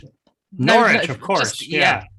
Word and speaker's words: Norwich: Norwich, of course. Just forget that W.